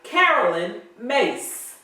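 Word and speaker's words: Caroline Myss: The first book is Sacred Contracts by Carolyn Mace. That is the correct pronunciation since Reverend Ray left me hanging last week.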